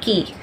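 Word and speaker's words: cay: The next terminology that we have is a word that has letter C-A-Y, which pronounces key.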